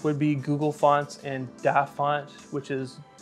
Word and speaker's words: DaFont: The free alternative would be Google Fonts and DaFont, which is spelled D-A font.